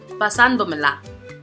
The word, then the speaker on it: pasándomela: This word has 5 syllables and the prosodic accent falls on the 2nd syllable, which is the 4th to the last.